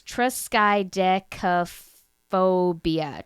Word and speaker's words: triskaidekaphobia: So it's triskaidekaphobia.